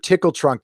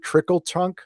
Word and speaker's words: Tickle Trunk: Is it Mr. Tickle Trunk? Oh, did I say it wrong? Sorry. You know what? I'm saying these things so fast. If I'm okay, so it's Mr. Tickle Trunk. Did I say Mr. Trickle Trunk?